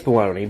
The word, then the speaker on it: bologna: time in the comments does he really not know how to say bologna it's baloney but come on look at it if it's spelled that way i'm going to say it that way bull log now somebody